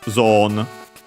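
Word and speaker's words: ゾーン: As for its accent, yeah, it's accented like in English on the first syllable, on the zo, on the first more to be precise, and so high and everything else low.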